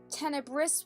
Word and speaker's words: Tenebris: because she's dark colored I thought it was pronounced tenebrous with an S can it be found pewter okay then tenebrous with a silent s it is the princess is